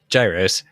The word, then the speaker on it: gyros: viewers by saying it wrong don't do it Gyros so yeah so yeah it would have been